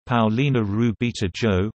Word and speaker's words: Paulina Rubio: Paulina's susana rubio dozerman's spanish pronunciation Paolina ruby - Joe born the 17th of June 1971 generally known